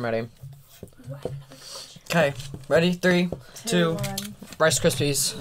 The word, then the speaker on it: Rice Krispies: okay ready three two rice krispies rice crepes i for some reason i always say rice cripsy okay right rice gypsy